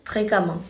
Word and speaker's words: fréquemment: Ensuite, pour les adjectifs se terminant par en, ent, comme évident ou fréquent, le suffixe de l'adverbe sera ement, mais on le prononcera amant, comme évidemment ou fréquemment.